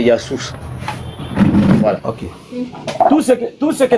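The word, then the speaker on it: يسوع: Non, je vais finir par là pour dire que la prononciation de Jésus en arabe traditionnel, c'est Yassous.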